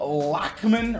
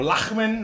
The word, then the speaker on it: Lachman: So I think I'm gonna actually try out Daryl Lachman, or Lachman, I guess, is the right way to say it in Dutch.